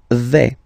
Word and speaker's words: vais: The first form is je vais. Okay, so remember, final S not pronounced here. Je vais. Okay, when you combine this AI, you get the sound A, really open, okay?